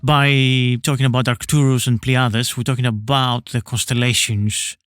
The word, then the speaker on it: Pleiades: And then with Pleiades, that's the Greek pronunciation of the constellation of Pleiades, which should be in the most visible in autumn, so early autumn.